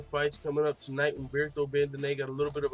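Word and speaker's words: Bandenay: Humberto Bandenet. Okay, that's how you say it. Not Bandenet. Humberto Bandenet. I can't pronounce half of his shit right, and not the other half.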